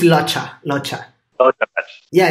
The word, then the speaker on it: Locha: Am I pronouncing it wrong? How do you say it? It's Locha.